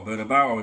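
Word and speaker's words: Bernabéu: priority signing however at the Santiago bernabeo or bernabao if you want to pronounce it the Premier League is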